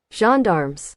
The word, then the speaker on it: gendarmes: Gendarmes. Gendarmes. There we go. French police. Two gendarmes, French police, enter the room. But Jeff said, they were nothing like the gendarmes we saw anywhere else in France.